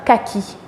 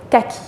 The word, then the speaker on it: kaki: Ceci est la couleur kaki. En français, kaki.